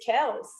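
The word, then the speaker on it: Kelce: posted that uh we've been pronouncing his last name wrong the entire time yes sir it is kel's it is travis kell's idol really oh it is i thought it was kelsey too wow it is k-e-l-s uh pronounced k-e-l-s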